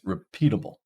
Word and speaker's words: repeatable: It's repeatable. And finally, stuffing. Stuff. So stuffing, our first syllable has that primary stress.